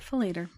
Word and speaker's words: Falater: I had to listen to that too because I wanted to make sure I pronounced it right, but it's Scott Falater.